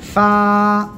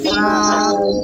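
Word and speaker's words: فاء: দাঁতের আগায় লাগাবেন লাগিয়ে হালকা বাতাস বের করবেন উচ্চারণ করবেন ফা সবাই একসাথে জোরে জোরে বলেন ফা শোনেন আগে কিন্তু যদি আপনি বাতাস বের না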